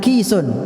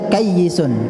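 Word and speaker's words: كيس: Ya, kaf, ya dan sin, bukan kisun. Kalau kisun itu kresek, ya, kresek kantong, kisun, ya, kresek uang atau kresek apa ya. Ya. Tapi bacanya kayyisun. Kayyisun itu orang yang cerdas, ya.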